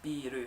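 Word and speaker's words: ビール: But you can see here, this is how you say beer in Japanese, biru, so you can see B, the little line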